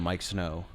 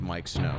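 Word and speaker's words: Miike Snow: for Genghis Khan by Mike Snow, and it's Miike. There's two I's, but I guess you should still pronounce it Mike Snow.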